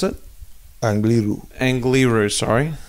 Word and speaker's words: Angliru: How do you pronounce it? Angliru. Angliru, sorry.